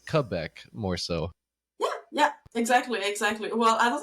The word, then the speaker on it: Quebec: America would say like qubec but uh but uh I think the local way to say it or the proper way to say it is Quebec more so yeah yeah